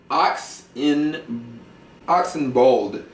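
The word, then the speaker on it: Ed Oxenbould: children You' got Ed Ox Ox in Oxen bold that's spelled o u l d who plays a character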